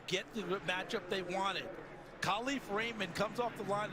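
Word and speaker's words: KaLif: hey by the way it's not pronounced Khalif it's Khali new contracts give you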